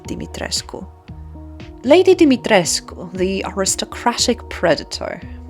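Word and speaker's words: Dimitrescu: And yes, her surname is pronounced as Dimitresco.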